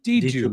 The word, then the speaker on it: Djidjou: Djidjou Ba, I'm probably saying that name wrong. Correct me if I'm wrong, Nick, but I think it's Djidjou Ba. D2 Ba. Djidjou. Wow, I was He told me.